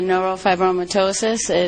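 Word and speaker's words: neurofibromatosis: Uh, Dylan has a neurop fibromyitosis. Oh, I did get that right. Yeah, I got it. I pronounced it right.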